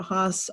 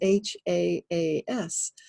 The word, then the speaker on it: Hass: live in California we always called it a Hass avocado because it was H AAS but now it's never been that has only